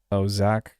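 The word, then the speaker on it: zaag: Pronounced zag means saw in Dutch like saw wave.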